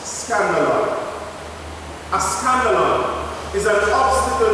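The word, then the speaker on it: σκάνδαλον: From verse 42 to 47, a Greek word is used, which is pronounced scandalon.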